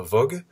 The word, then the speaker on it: Woog: Alors pour te présenter, tu es Alexandre Vogue, ça se prononce comme ça?